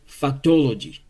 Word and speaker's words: factology: In case you want to pronounce, forget about this c. You just say factology.